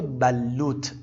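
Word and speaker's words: بلّوط: صحبت بکنیم درخت بلوت عرب‌ها این رو به بلوت تلفظ میکنند بلوت این رو هم دقت کنید که با تشدید همراه باید باشه شجرة البلوش المعمره درخت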